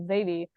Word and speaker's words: Zaivy: English and in Spanish, which is why it's the AI for Zaivy. But a lot of people will pronounce the V like a D, so it actually is pronounced like Zaidi in Spanish. And in English, it's usually pronounced as Zaivy, so it doesn't actually work in either language.